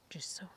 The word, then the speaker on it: Giusawa: The accent's on the middle syllable. Giusawa.